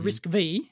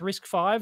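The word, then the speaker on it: RISC-V: risk five right the risk v however you want it what is this kind of thing yeah it's risk five is the is the majority pronunciation no it's yeah i've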